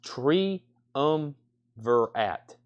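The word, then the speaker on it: Triumvirat: got some great music it's pronounced tree um verat triumvirant what a terrible name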